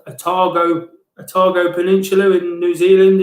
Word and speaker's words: Otago: it says further afield um i think it's pronounced otago otago peninsula in new zealand is pretty special